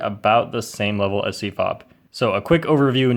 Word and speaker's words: CFOP: save some time So C-F-O-P Pronounced CFOP is the most popular